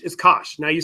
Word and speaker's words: cosh: of X ascention X hyperbolic cosine is pronounced cosh the cosh of X